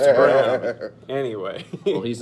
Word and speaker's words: Braun: Well, it's is a heck of a Braun, Braun, but but it's it's pronounced Braun.